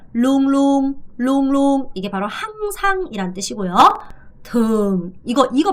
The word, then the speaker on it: thường: thường 이거 발음 잘해야 돼. 이 발음이 되게 중요한데요. 이 발음 sing 아니고요. swing 이 발음을 제대로 하셔야 돼요. thường swing.